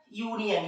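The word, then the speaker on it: union: रही तो एन लगाएंगे, लेकिन गाइस वो वोवेल दिखने में है पर उसका जो प्रोनाउंसिएशन है मींस उच्चारण है वो क्या है? यू, है ना, यूनियन या। तो या के पहले हमेशा क्या लगता है?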